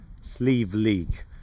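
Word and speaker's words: Sliabh: You spell it a bit different in Irish. It looks a bit funny, it's with a B and a H, but you actually pronounce it Slieve, or at least I hope so.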